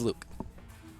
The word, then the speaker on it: 1UC: It's spelt 1UC, but if you're talking to him, he's Luke.